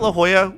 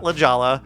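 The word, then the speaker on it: La Jolla: You got La Hoya, not Ljala, not El Kajan, it's Elcohone.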